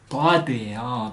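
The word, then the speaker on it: ضاد: 다 자세히 들으면 혀가 입천장에서 툭 떨어지는 소리 나요. 다 이제 할 수 있어요. 다 그래서 이 다의 이름은 다드예요.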